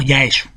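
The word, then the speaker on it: Yaesu: dedicada a este marinero los japoneses pronuncian ya estén como ya eso y por eso la avenida se llama ya eso así pues se supone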